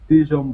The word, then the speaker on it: Dijon: call it dijon dai john how do you pronounce it we call ourselves the dijon boys the dijon boys six digital boys all